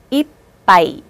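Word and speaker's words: いっぱい: 대표음은 비읍이에요. 그래서 이빠이 이렇게 읽으시는 거예요.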